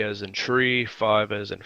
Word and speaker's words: three: three five and nine the number three is say like tree like the thing that grows our to ground and makes leaves five is said like